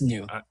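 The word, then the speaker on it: Nous: you know the the uh there's noose research and I've heard I've heard the the people who are in that group um it's new and say you know whether it's new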